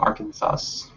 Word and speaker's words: Arkansas: He's from Arkansas.